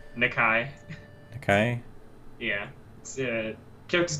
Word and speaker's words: Nakai: Nicky not Kai am I saying it right nakai okay yeah yeah Kurt's name is to sound